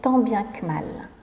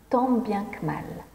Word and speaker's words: tant bien que mal: moi c'est tant bien que mal que l'on prononce tant bien que mal tant bien que mal tant bien que mal donc ici ça veut